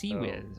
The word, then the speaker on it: CIWS: CIWS is pronounced CWIZ.